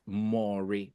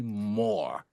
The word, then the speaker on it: Moore: As a typical Yoruba boy, I would call that Mori because 2 O's, right? But the stunning discovery is that it's actually Moore.